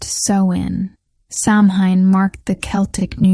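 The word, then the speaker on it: Samhain: October 31st, the night of Samhine, pronounced soin.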